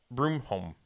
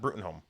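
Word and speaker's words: Bruttenholm: like it was his nickname well no it's pronounced Trevor Broomall broom home it's not brutin home have you have you watched the movies not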